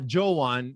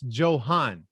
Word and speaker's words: Johan: hold on hold on it's not joewon it's it's johan johann okay joe and you said